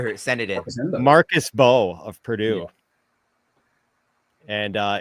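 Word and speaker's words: Mbow: Marcus Bo of Purdue and uh it's the M and his name is silent.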